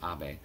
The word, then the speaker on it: Abe: Now, this is interesting because the Prime Minister right now is a man by the name of Prime Minister Abe, spelled like Abe, but it's Abe.